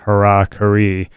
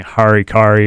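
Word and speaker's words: hara-kiri: sword and if you're wondering about that name Hara Curry and thinking harikari or Harry Carey which a lot of people say and that's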